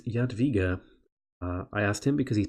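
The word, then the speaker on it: Jadwiga: is yaad yaad viga which thanks to my brassiere for letting me know how to pronounce that I send him a tweet than he he told me it is yet viga I asked him because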